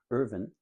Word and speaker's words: Irvin: But this plan didn't sit well with one of the best known developers in Southern California, Irvin. I sometimes mispronounce it, Irving, and it's not. It's Bergen Khan K Ahn well-known developer had bought the pen skeos and I think it was about 1962.